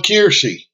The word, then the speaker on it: Kiersey: But I also wanted to talk about and give a shout out to Trucking with Kiersey. K-E-A-R-S-E-Y, Kiersey, Kiersey. I think it's Kiersey. That's the way she pronounces it.